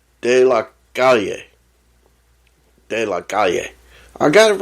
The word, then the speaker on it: De La Calle: De La Calle.